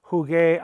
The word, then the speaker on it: jugué: The important point to remember is that the yo form in the preterite of a GAR verb is going to end in gay. Why? We must maintain the integrity of the hard G sound all through all 5 conjugations of the verb.